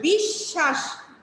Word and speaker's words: বিশ্বাস: আমি কিন্তু বলে দিয়েছি দ্বিতীয় উচ্চারণ মানে হচ্ছে দ্বিতীয় উচ্চারণ, ঠিক আছে। এবার আসো বিশ্বাস, বিশ্বাস।